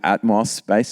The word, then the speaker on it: Atmos Space: Uh now with Atmos Space, is am I pronouncing that correctly?